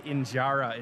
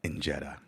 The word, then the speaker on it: injera: And our first stop is to see how the famous Ethiopia injera is made. He messed up already WITH THE PRONUNCIATION. HE ALREADY MESSED UP WITH THE PRONUNCIATION. THEY PRONOUNCE IT AS ENJERA.